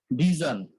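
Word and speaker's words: vision: হয় যেমন হচ্ছে আমরা ভিশন বলি বাংলায় ভিশন বললে ঠিক আছে কিন্তু যখন আমরা ইংলিশে বলবো তখন হচ্ছে ভিজন কি ভিজন তারপর হচ্ছে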